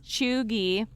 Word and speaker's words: cheugy: it's because it is chugi um and and it did say here's the thing it says it has a hard g uh okay so by